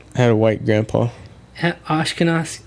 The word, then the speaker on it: Ashkenazi: Ashkenazi. How do you say that? Ashkenazi Jew.